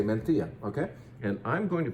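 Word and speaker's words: Mencía: It's spelled slightly differently, but the region is Monterey, and the grape variety is Mencia. And if you don't want to say it with a lisp, you can say Mencia.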